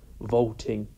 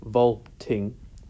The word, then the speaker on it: vaulting: a stress as here for example vaulting ambition which contrasts with the standard I am to prick where it's a weak syllable then a strong syllable here vaulting strong then weak it's a sign that